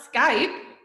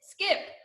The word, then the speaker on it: skip: skip skip it so it's not Skype it's skip so that's a short vowel hunt as well and